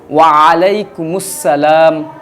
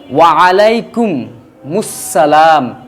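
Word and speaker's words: وعليكم السلام: ওয়া আলাইকুমুস সালাম, ওয়া আলাইকুমুস সালাম। এরপর অংশ আছে ওয়া রাহমাতুল্লাহি ওয়া বারাকাতুহু। এটুকু বললে পারে নেকি বেশি, এটুকু না বললেও সমস্যা নাই। আপনি শুধু ওয়া আলাইকুমুস সালাম এটুকু বললেও চলবে।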